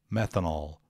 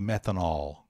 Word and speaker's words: metanol: mais legal e metanol metanol tem duas pronúncias mete canal meta ou e metanol ou um pouco mais aberto o então pouco mas faz